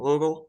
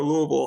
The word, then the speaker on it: Louisville: uh it's Louisville or Louisville how do you say it rick which way you know um people that live here call it Louisville and a lot of other people say Louisville I would go with Louisville